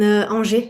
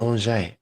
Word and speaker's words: Angers: In Angers, in the northwest. Okay, I've never. Can you say that again? Angers. Angers? Yes. Man, that sounds beautiful. I love the sound of that. It was just reminded Angers.